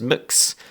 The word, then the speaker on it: Mx: And just to go back to what Helen mentioned, which is mix, which is spelled MX, as we said before.